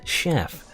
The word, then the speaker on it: chef: CH always messes me up because when she chef I always want to pronounce it chef, but that makes no sense. It's chef.